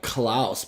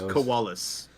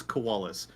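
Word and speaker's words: Kualus: koalas yeah i always thought it was like klaus but i guess koalas is how you pronounce it it's koalas because in i like i've heard so many different pronunciations but canonically it's koalas i've heard coolest klaus koalas it's it's i've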